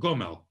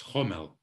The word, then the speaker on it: Gomel: city in belarus here called gomel in some dialects homel it's spelled with a g and uh she would